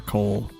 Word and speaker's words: Koal: Jake is kind of just a better Koal. Because there's also no airport, so it's not like the +1 movement for Koal's air units is mattering a ton. Or +2 or +1. Shoal does rhyme with Koal.